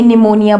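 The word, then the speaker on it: pneumonia: लोग गलत है को निमोनिया जिसे हम हिंदी में निमोनिया बोलते हैं निमोनिया यहां पर पीस साइलेंट लोग स्पेलिंग मिस्टेक करते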